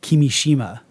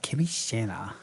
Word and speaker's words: Kimishima: Pronounce it. Kimishima.